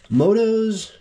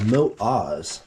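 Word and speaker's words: Motoz: tractionator GPS 50 50 Adventure tires I've been pronouncing this motos or Moto Z's for longest time but I believe the correct pronunciation is moat Oz here's the front one and rotations find the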